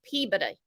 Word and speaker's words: Peabody: Okay, Peabody. Peabody is how you say it.